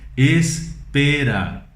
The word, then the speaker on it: espera: Em espanhol nós temos a mesma palavra, mas nós falamos espera, ok?